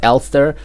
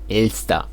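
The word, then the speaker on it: Elster: her elsta um okay in the community it's Ulster but in Germany it is ilsta two syllables El star again El star or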